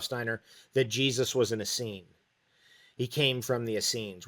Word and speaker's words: Essenes: reference for the Asen Asen is spelled e s n s so Asen or as scenes and you know the